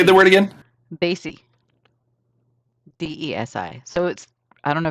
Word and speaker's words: Desi: We take that same word or the same spelling and we pronounce it Desi, and it represents Indian people. Daisy.